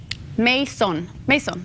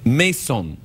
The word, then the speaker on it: Masohn: Hey, did I pronounce your name properly? Masohn. Masohn.